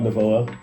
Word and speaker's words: Novoa: Yeah, I'm Novoa. That's how you say it.